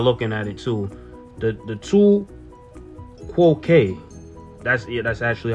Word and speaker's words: tu quoque: Now, this one is hard to pronounce. And I know y'all looking at it too. The tu quoque.